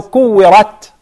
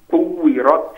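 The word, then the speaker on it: كُوِّرَتْ: Yes, and make sure the ra has the zabar, fatha, and it is mufakhama.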